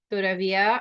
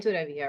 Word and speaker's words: todavía: All right, so todavía, accent on the I in todavía, right?